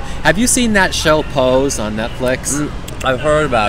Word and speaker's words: Pose: It's spelled P-O-I-S-E, right? No, it's called P-O-S-E, I believe. I think it's Poise. No, it's not Poise. It's called Pose.